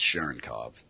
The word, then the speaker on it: Cherenkov: I think it's Cherenkov. I heard people butcher it, and then I end up imitating them. And C-H-E-R-N? Yeah, C-H-E-R-E-N-K-O-V. Cherenkov. Yep.